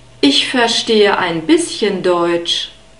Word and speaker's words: verstehe: Verstehe. The V is pronounced like an F. You can see this in the phonetic script.